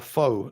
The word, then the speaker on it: pho: It's pho, not pho. That's how you pronounce it.